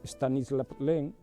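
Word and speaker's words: Stanisław Lem: a escribir prácticamente dedicó es escribir o autor stanislaw lem se pronuncia así así ante conocerá o mais porque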